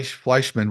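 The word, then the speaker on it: Fleischmann: like Republican Chuck fman say his name FL fleshman will win the tight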